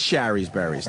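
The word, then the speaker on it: Shari's Berries: I mean, it is Sherry's Berries, not Sherry's. Sherry doesn't rhyme with berry.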